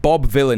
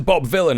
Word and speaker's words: Vylan: This guy is not Bob Villain. He is one of two Bob Villains. You got Bobby Villain. This this guy and the drummer is also called Bobby Villain. The difference being this guy is spelled with a Y.